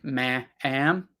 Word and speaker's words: ma'am: one it's funny because it looks like maybe it would be maam but it's it's just ma'am ma'am ma'am pretend that it's just m m ma'am ma'am like Mom but change the o to be an a ma'am yes ma'am Mo